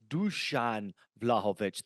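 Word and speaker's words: Dušan Vlahović: comments to say Ian it is not Duan it is Duan vlahovich thank you so much and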